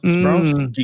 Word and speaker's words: Giger: Sorry, it's pronounced Giger.